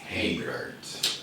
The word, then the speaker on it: HeyBert: Yeah, it is HeyBert.